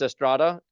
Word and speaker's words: Estrada: So my name is pronounced Estrada, as in Prada with the T and without the money.